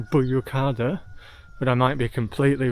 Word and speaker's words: Büyükada: I'm pronouncing it as Büyükada. That might be completely wrong, but I will include the actual name of the island. And if I'm pronouncing it wrong, if you're Turkish or you speak Turkish, let me know in phonics how you would pronounce it. I think the U with the two dots above it is an O sound, so Büyükada.